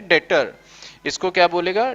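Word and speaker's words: debtor: डेटर। इसको क्या बोलेगा? डेटर। देखो बी साइलेंट है इसमें, याद रखना।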